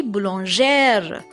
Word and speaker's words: boulangère: Boulanger was a masculine, but feminine it will be boulangère. So if you can observe here, we have added accent on E before R, and after R we have added E.